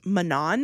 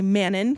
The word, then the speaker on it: Manon: I read this, I she was Manan in my head. I'm doing I'm going to do my level best to say Manon cuz that's how the official pronunciation is, but please apologies if